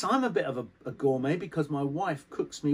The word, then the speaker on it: gourmet: this one is pronounced not i don't know gourmet no it's not it's pronounced gourmet gourmet because the french don't pronounce the tea at